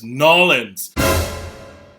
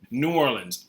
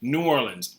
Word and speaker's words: New Orleans: No one here says Nolans. No one. That does not come from here. We say New Orleans, New Orleans, New Orleans. We say New Orleans or New Orleans.